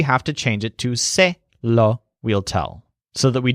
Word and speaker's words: se lo: lei law I'll tell but since it's law we have to spell and pronounce it as say law so I'll tell him